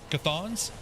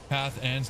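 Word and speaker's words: Cathan's: Cathons like that. Dead hippie. Cathans. Not cathons.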